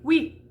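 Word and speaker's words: oui: w sound instead of an u sound like we which means yes okay so then we're going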